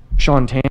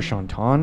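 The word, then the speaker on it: Shaun Tan: Shantan, or Shantan, as he says, you can pronounce either way.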